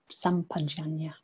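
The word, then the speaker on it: sampajañña: This is pronounced in all sorts of different ways. Sampajana. So I think this is a Pali way. It's sampajana.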